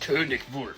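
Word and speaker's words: Konig Wolf: the 053 conic wolf it's technically pronounced conic wolf you're supposed to get real throaty in German with it the conic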